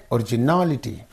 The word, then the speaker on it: originality: these two syllables and the syllable preceding the suffix is n so originality you have to say originality right POS possibility what